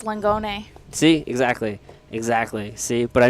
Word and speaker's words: Langone: So I don't always know if I want to pronounce that right. Like sometimes with the Italian names. Yeah, technically it's Langone.